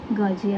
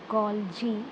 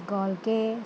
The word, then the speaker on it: Golgi: will be transported to its designated destination by Golgi apparatus.